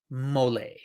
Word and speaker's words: Molles: I'll spell that Molles. Mollet. Trust me, I looked it up.